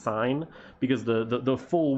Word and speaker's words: sin: sign is traditionally written s i n but it's not pronounced sin it's pronounced sign because the the the